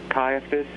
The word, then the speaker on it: Caiaphas: the Courtyard at Caiaphas caiaphus am I pronouncing that right yes okay that Peter went